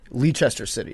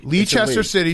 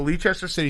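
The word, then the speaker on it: Leicester City: Also, I didn't want to correct you in time, but you mispronounced it. It's Lee City. Leester City. Sorry. So, Lee Chester City.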